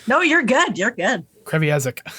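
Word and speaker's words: Kreviazuk: I can never say her name properly. I used to think there was a... Okay, good, because I used to think there was a T in it. Kreviazek.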